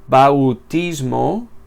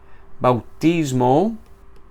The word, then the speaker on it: bautismo: Esa palabra no se pronuncia bautismo, como si tuviésemos que pronunciar cada una de esas vocales por separado, sino que tiene un diptongo bautismo, y la A y la U se pronuncian juntas.